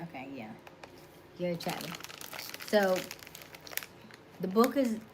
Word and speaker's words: Gary Chapman: Gary Chapman. Okay, yeah. Gary Chapman.